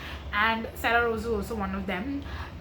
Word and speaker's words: Sarah Rose: next we have um sah Rose or other I should say Sarah Rose that's how she pronounces it herself uh again someone who